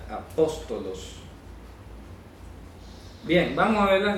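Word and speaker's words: ἀπόστολος: Se pronuncia apóstolos.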